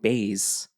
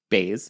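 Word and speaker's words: BÉIS: And then uh collaboration between Rare Beauty and Baze Bags.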